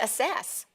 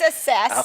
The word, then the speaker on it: assess: I thought it was asses. Kurt, your mother is in the audience. Oh, sorry, Watch Mom. it. That's hilarious. Actually, it is assess.